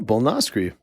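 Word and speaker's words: Bolnoscre: So Philip is spelled F-I-L-I-P. Fuck that. Anyway. Last name Bolnoskry. B-O-L-N-O-S-C-R-E. Perfect. Oh, Bolnoskry.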